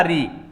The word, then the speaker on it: ऋ: जिनको अपन बोलेंगे ऋ जब ऋ का अपन उच्चारण करते हैं तो वहां थोड़ा सा क्या हो जाता है वह खंडित हो जाती है ऋ उच्चारण तो हुआ ऋ से और लास्ट में क्या निकला ई री यानी कि री रे री से ई लास्ट में क्या आया ई इसलिए इसको मौखिक रूप